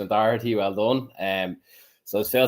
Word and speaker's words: Doherty: I'm very impressed with the pronunciation of Doherty.